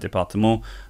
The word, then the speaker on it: département: So that actual example, vigilance and département, those are both cognates, but the children might try to pronounce them in an English way, but of course they want to know the French pronunciation.